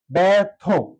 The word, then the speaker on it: ব্যর্থ: নেই এখন বলা হয়েছে শুরুতে যদি ব ফলার মানে বের একটি বর্ণের সাথে জ ফলা থাকে এবং পরবর্তী বর্ণটির সাথে যদি অ বা আ থাকে সেই ক্ষেত্রে এই জ ফলার উচ্চারণটা এখানে ব এর সাথে যেহেতু আছে হয়ে যাবে এ অর্থাৎ ব্যা ব্যর্থ কি হয়ে যাবে ব্যার ব্যার এই রেডটি র হয়ে যাবে র হিসেবে বসবে আগে বসবে ব্যার থো আমরা জানি যুক্তবর্ণ যদি